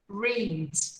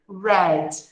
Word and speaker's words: read: O outro verbinho que se repete no passado, mas aqui é na grafia, não na pronúncia, é o verbo read. Read. No passado, read. Read. Muda a pronúncia.